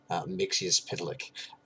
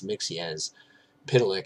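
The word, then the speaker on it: Mxyzptlk: My understanding is that it's Mixius Pitlick. I believe I got that from either Lois and Clark or Superman the Animated Series, and I appreciated the pronunciation so much that I decided to stick with it.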